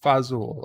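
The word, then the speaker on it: fazool: It's pronounced fazul.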